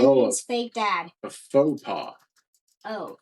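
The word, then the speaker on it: faux pas: Foxpaw? Yeah. What? That means fake pop. That Oh. means fake dad. A faux paw. Oh, a faux paw. Faux paw. Yeah, I always think it says fox paw.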